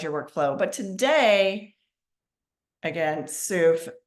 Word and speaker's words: Soof: But today, again, Soof, that's SOOF as in Frank. And like she said, it rhymes with proof.